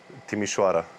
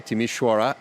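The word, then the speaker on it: Timișoara: First of all, Timasura, is that the way to pronounce it? Timishwara. Okay. Timishwara.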